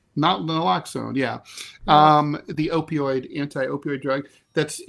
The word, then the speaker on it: Naloxone: It's not really known why this dropped so fast, but experts say that I always have a problem pronouncing this. Naloxone. Naloxone, yeah.